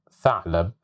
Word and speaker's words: ثعلب: So here we have the letter th in the word ثعلب, ثعلب, ثعلب, which means a fox. So here we have it with fatha, so that's why we pronounce it as th, ثعلب.